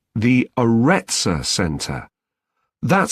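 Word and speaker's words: Aretsa: It's called the Arettza Center. That's spelled A R E T S A.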